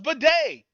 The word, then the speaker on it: bidet: say the baby the baby oh it's a bidet oh but day okay so anyway ended the